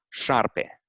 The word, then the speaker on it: șarpe: Um, the first two letters sh, that the sound that they create in English is in Romanian represented by the letter s with a tail at the bottom. Okay. So an example maybe in Romanian with the letter sh would be like, for example, the word for snake is șarpe.